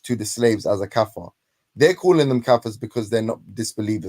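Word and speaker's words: kafir: that Muslim refers to the slaves as a kafer they're calling them kafers because they're not disbelievers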